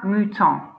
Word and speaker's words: mouton: So, un mouton. Un is telling us it's a masculine word, so you can write that on the masculine side. Le mouton, that's how to say the sheep. Les moutons is if there's, it's plural if there's lots